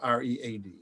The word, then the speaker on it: Read: r-e-e-e-e and you have r-e-a-d correct yep it's uh it's how it's spelled on the screen it's read like read a book okay so we will